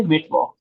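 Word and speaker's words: Mittwoch: मिड वॉक।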